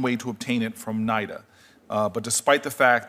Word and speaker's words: NIDA: with the with nid am I pronouncing as naida Nita what what naida I want to start with naida um they've maintained a